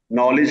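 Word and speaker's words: knowledge: करते हैं जी सर नॉलेज का के प्रोनाउंस करते हैं तो के साइलेंट हो जाता है नाइ का केस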